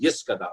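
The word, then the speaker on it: Yitgadal: And the worship leader would now say, okay, and just by saying Yitkadal, although it's pronounced Yiskadal, but Yitkadal v'Yikadash Shmei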